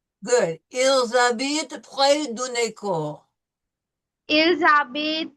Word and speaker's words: habitent: Okay, no we don't pronounce the H, you're right, it's silent.